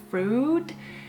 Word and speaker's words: Freud: And the writing is heavily influenced by Freud, I'm gonna call him Freud because he's Austrian and this is the correct pronunciation anyway, so suck it up.